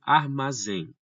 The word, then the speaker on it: armazém: E, pessoal, temos também armazém. Armazém, a tonicidade vai no zen, né?